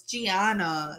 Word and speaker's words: Gianna: day telling you that her name isn't pronounced how you said. It's not Diana, what was it, Diana, some fucking weird some freaking weird shit. And because I said her name was Gianna, and she was like, no, it's Gianna.